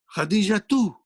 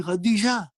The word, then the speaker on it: Khadija: Because you stopped, you don't pronounce the last letter in the name. Khadija too. Can you say Khadija too to a sister? No, you'll say Khadija.